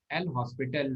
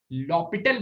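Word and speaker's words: L'Hôpital: एल हॉस्पिटल rule, ठीक है, एल हॉस्पिटल rule, या एस नहीं होता है, लॉपिटल बोलते हैं, ठीक है, लॉपिटल, एच ओ साइलेंट रहता है, लॉपिटल्स रूल।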